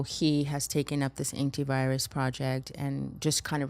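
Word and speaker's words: Aintivirus: So we're still working on it very much, but the project is called Antivirus. It's spelled AINTI virus.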